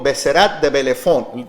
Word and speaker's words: Besserat de Bellefon: Besserat de Bellefon.